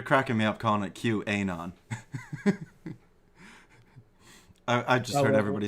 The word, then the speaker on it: QAnon: you're cr you're cracking me up calling it q ainon i just heard everybody say qwen on and it's just i i like your pronunciation yeah q anon is probably the better procrastination but that's all